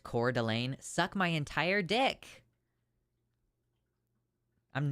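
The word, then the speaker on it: Coeur d'Alene: comes in like that is the problem it's pronounced cor delain suck my entire dick I'm not doing it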